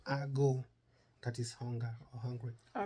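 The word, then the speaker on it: agụ: That's another reason why you might not get the pronunciation. Ago, oh yeah, is A-G-U. Ago.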